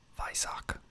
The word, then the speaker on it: Weissach: I think it's like Weissach. Most people pronounce it like Weissach, but I think it's more of a Weissach. Like, it's German, obviously.